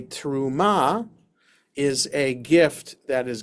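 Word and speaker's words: תרומה: person to another okay A a teruma or with the accent the the right syllable a truma is a gift that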